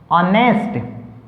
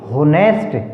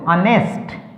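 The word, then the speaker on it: honest: ऑनेस्ट, H silent, ऑनेस्ट, अगर हम इसको H को बोलेंगे तो क्या साउंड निकलेगी, होनेस्ट, जो कि एक उच्चारण जो है वो गलत होगा, होनेस्ट नहीं बोलना इसको, ऑनेस्ट, HEI या एयर, यहाँ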